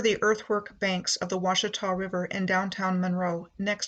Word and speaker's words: Ouachita: My starting point is Monroe, the parish seat of Louisiana's Ouachita, pronounced Washitaw, Parish.